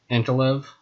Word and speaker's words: Ankalaev: fight night santos versus antolev that's how you say his name for sure kind of hard to